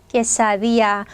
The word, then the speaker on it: quesadilla: 퀘사디아, 퀘사딜야, 이렇게 되게 많이 다양하게 써 있는데 정확한 발음은 뭐예요? 얘는 깨입니다. 깨사. 자, 여기 L 두 개 있는 거 절대 리을 발음이 아니라고 했죠? 자, 그리고 앞에 발음하고 전혀 상관없습니다. D 끊고 뒤에서 그냥 야입니다. 야, quesadilla.